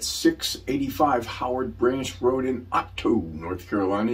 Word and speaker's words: Otto: I'm going to show you an incredible listing at 685 Howard Branch Road in Otto, North Carolina. You got to pronounce both T's there.